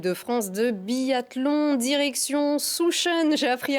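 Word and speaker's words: Sjusjøen: Et on prend des nouvelles de l'équipe de France de biathlon, direction Souchen. J'ai appris à le prononcer, ça y est, c'est fait.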